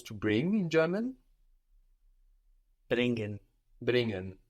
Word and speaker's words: bringen: Bringen. So you don't pronounce so much the g here because it's ng. It's an ng combination.